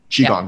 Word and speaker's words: Qigong: I do Qigong, if I'm pronouncing that correctly, and block therapy. Qigong, yeah.